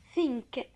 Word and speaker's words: think: طبعا عارفين TH بنطقها زي حرف الف في اللغة العربية.